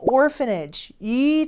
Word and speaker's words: orphanage: 영어를 공부했다는 의미가 되겠죠 자 고아원이라는 단어 나왔어요 orphanage이 단어도 발음하기가 약간 어려운데 PH n f 발음이 그리고